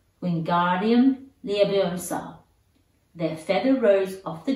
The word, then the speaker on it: Wingardium Leviosa: Wingardium Leviosa, he shouted, waving his long arms like a windmill. You're saying it wrong, Harry heard Hermione snap. It's Wingardium Leviosa. Make the ga nice and long.